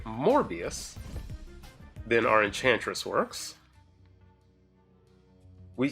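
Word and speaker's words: Morbius: So if they have a Mobius, I said it wrong, a MorbiiUS, then our enchantress works.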